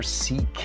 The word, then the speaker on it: Scykei: It also has the letter CK engraved on it, which is the correct pronunciation for the watch brand Scykei, not Scykei, or like I was calling it before.